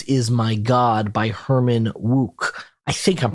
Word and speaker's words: Wouk: in 1959, This Is My God by Herman Wouk. I think I'm pronouncing his last name correctly, but send in letters.